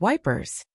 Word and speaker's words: Ypres: The most famous was the Wipers Times, published by British soldiers near Ypres, which they pronounced Wipers.